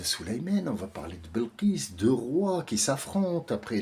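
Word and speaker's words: Bilqis: tu vas faire SAB elle s'appelle belqis Belkis si vous voulez pour les gens qui ne peuvent pas prononcer belqis qu'est-ce que tu vas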